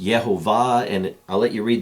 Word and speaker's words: Yehovah: And eventually Nehemiah told him that it was pronounced Yehovah, and I'll let you read the book for the cool story, how it's explained.